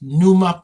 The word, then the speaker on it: Pneuma: NUMA podcast as in pneumatic.